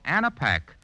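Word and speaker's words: Anapac: coming on be sure to have your Rexall an a pack on hand that's spelled a n a p a c and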